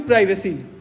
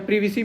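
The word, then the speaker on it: privacy: ethical principal इसमें क्या है, राइट टू प्राइवेसी या प्रिवेसी बोलेंगे अगर शुद्ध में, अलग अलग प्रोनाउंसिएशन अगर करें तो राइट टू प्रिवेसी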